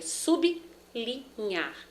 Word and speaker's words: sublinhar: Esse L e esse R se separam nesses grupos consonantais.